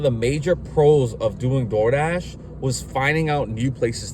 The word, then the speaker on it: DoorDash: personally did not like door Dash or DOA as uh as us Hispanics would say it right um but